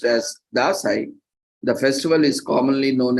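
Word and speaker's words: Dashain: festivals in Nepal spans over 15 days locally pronounced as dasai the festival is commonly known as Vijay Dashi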